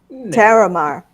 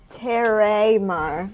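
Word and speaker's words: Taramar: Terramar.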